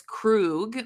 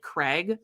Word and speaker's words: Krug: little bit, but like she calls him, like tries to pronounce his name and ends up like kind of saying it like Craig.